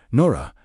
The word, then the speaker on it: Nura: It is a description of Nura, pronounced Nora, actually leaving Hi's body